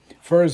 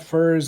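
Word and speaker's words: furze: to build a house Furs is spelled f u r Ze it's not Furs as in the fur of a fox please man give me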